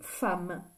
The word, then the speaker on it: femme: un M 2è m alors c'est bizarre parce que ça se lit femme et ça s'écrit FEM donc attention ça c'est